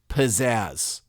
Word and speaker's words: pizzazz: begin so unassumingly with the opening syllable pronounced pas like in the word pedestrian it's unbelievable to me that of all words the very unimaginative word pedestrian begins the same way as pizzazz so it's like the